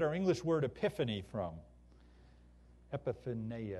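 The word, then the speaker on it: ἐπιφάνεια: Epiphaneia or something like that is how we're going to pronounce this in the Greek.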